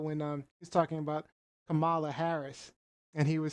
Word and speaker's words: Kamala: was talking about when he was talking about Kamala Harris, and he was saying, it's a thing of nightmares. Liz is big on pronunciation. Kamala, I said it right. Okay, oh, Kamala, right. I said it wrong. Kamala.